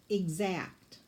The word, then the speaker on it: exact: And once again, the X has that K-S sound, so there's no S in the word. The S sound comes from the X.